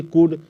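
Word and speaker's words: could: पहले एल आए तो ये एल जो है साइलेंट होता है जैसे सी ओ यू एल डी कुड इसमें देखिए एल आया तो कुड क्या हो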